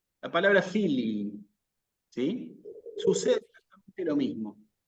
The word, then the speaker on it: filii: La palabra filii. ¿Sí? Sucede exactamente lo mismo. La palabra, cuando yo la pronuncio aquí, tenemos que hacer un esfuerzo porque se escuche la dicción, digamos, de las dos I.